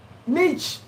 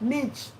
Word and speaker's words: niche: valuable information okay tendo niche you came a little bit late i talked about niche niche or niche depending where you are this is the pronunciation